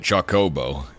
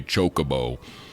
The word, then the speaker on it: Chocobo: Naga and Company H so me pronouncing it Chocobo like chocolate is arguably more correct than the people that say chocoo that's why what I'm